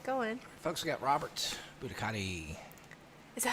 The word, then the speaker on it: Buoniconti: Folks, we got Robert Buoniconti. Is that how you say it? Yes, Buoniconti.